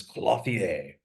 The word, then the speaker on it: clothier: I am Landon, and with me is the one and only gentleman's clothier, Nathan.